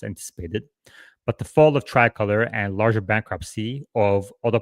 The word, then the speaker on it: Tricolor: Fifth Third disclosed its exposure to Trilocor in September, saying it expects to take $170 million to $200 million loss on so-called asset-backed loan to Trilocor. Tricolor.